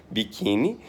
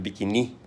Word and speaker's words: biquíni: Biquíni tem que ter acento, porque senão seria biquini, né? Porque palavras terminadas em sílaba simples com i devem ser paroxítonas a menos que acentuadas. Né? Deve ser oxítonas a menos que acentuadas. Então, sem acento, biquíni seria pronunciado biquini.